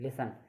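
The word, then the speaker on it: listen: टी क्या होता है, 10 और TCH में टी साइलेंट होता है, यानी कि LICTEN लिसन, यानी कि इसमें क्या देखिए अपन को, TEN में साइलेंट है, टी साइलेंट होता है इसमें।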